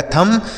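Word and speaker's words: thumb: तो जब भी एम के साथ बी लिखा रहेगा ना तो वहां बी साइलेंट होता है।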